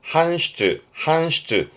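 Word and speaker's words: 搬出: 발음은 한슈즈. 기본은 한이에요.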